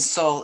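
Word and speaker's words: Seoul: our forgotten war and soul is spelled s-e-o-u-l like the capital one more foam about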